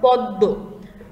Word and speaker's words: পদ্ম: যেমন পদ্ম, দয়ের সাথে ম ফলা আছে, তাই তো? এখন পদ্ম আমরা কিন্তু পদ্ম বলবো না, ঠিক আছে? দটাকেই আমরা দুইবার উচ্চারণ করব, পদ্ম, এবং পরের দোটার উপরে একটু নাকের ভেতর থেকে একটু চাপ দিয়ে উচ্চারণ করতে হবে, পদ্ম।